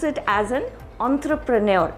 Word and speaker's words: entrepreneur: pronounce it as an entrepreneur it's it's coming from a french derived word so the word is entrepreneur all right the next